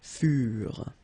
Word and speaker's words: furent: Keep in mind that ENT, you know, the ending for the plural form is never pronounced, so furent.